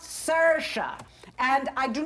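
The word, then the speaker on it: Saoirse: hello I am sorry hello I am Sasha s-a-o-i-r-s-e it's pronounced Sasha and I do not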